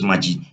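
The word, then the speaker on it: מים: En hebreo la palabra agua es Majid. Se escribe con las letras Men, Yod y Men.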